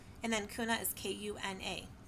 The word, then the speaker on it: Kuna: And again, is and then kuna is k u n a. So it rhymes with tuna kuna.